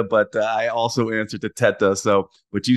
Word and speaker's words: Teta: But so my name is Teta. It's the correct pronunciation. I'm Italian background. The correct pronunciation is Teta. Obviously Italian.